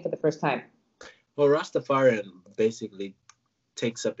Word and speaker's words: Rastafari: please please correct me where I'm wrong and pronouncing it rust affiant is that how you say it nice to fire you Rastafari innit okay what what exactly what kind of